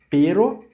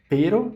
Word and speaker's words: pero: Então, perro, dois Rs forte e pero, que é só uma R.